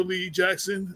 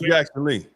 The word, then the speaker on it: Jackson Lee: and um our Congressman Sheila Lee Jackson Sheil Jackson Le did that say it right Sheila Lee Jack yeah so um yeah or Shea Jackson whatever forgive me Jackson Lee Jackson Lee right yeah yeah yeah another